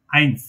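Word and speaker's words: eins: ভাই বলেন উচ্চারণ করেন এই যুক্ত ই আই আমি বলি কিভাবে পড়বেন ই আই আই আইন্স এরকম ই আই আই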